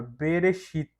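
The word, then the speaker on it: בְּרֵאשִׁית: som mudo então vai ficar como fica a pronúncia dessa palavra berechit esse B aqui vai ser uma preposição vai ficar no princípio e aqui tem as respostas aqui berechit no princípio essa aqui é mesma mesma coisa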